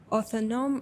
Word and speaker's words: autonomous: No, autonomous, like autonomy.